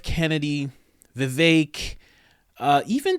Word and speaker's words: Vivek: V vake rhymes with cake I will pronounce that